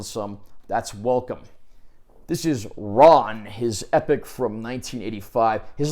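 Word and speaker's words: 乱: of the film is pronounced Ron not ran because it's a Japanese word it's Japanese word that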